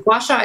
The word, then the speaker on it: gua sha: if you look up the tools google this washa is spelled g-u-a space s-h-a and it uses usually